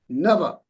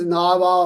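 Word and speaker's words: नव: Ashta Nava. Okay. So don't pronounce this Nava or something because there's no bar on top here. So it's Nava. Nava. Both are short.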